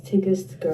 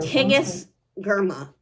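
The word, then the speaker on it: Tigest Girma: words inside of it and also how to pronounce my name okay you hearing her so my name is TIG girl TIG GMA that is who is by so Immortal dark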